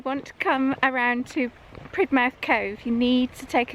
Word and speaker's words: Polridmouth: So we're on our way down to Polridmouth or Pridmouth Cove. Yeah, we found out recently. Apparently locals say Pridmouth, but Yeah. if you look at it written down, it says Polridmouth.